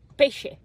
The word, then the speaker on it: pesce: Pesce. Pesce? Pesce. Pesce. Pesce. Yeah? Pesce? Yeah, pesce if it's one. How about if it's more than one? Okay, what is it? Pesces?